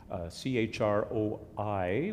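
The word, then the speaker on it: Croí: band, when it existed, had the name Chrí, Chroi, with an accent on the last I. It's the Irish Gaelic word for heart.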